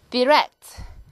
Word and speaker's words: direct: 다시 neither 이렇게 발음하는 것들 neither 이렇게 발음이 되고 자, 그 다음 direct 이 단어 direct, 영국 발음은 E를 I로 바꾸면 간단하죠?